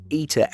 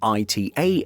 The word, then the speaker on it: ITA: We also go with ITA Airways rather than ITA Airways.